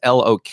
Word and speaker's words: Lok: I think that's how you pronounce his last name. It's Lok is his last name, Dan Lok.